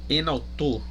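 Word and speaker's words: ἐν αὐτῷ: Aqui você tem, ó, o enautor, né? Você tem uma preposição proclítica, né, que é aquela preposição onde você pronuncia ela juntamente com a palavra seguinte. Então você tem enautor, certo?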